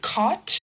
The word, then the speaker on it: caught: So the word caught is not with a th sound. It's actually pronounced only like the t. Caught. And that's the same with eight. Eight. Caught. We have a gh and all of these other weird letters there, but when we're pronouncing them, we can ignore them with or without.